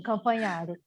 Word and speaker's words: Campanharo: A Campanharo. Pronunciei certo? solta esse microfone aí, hein? Oi, desculpa, pronunciou certinho, Campanharo.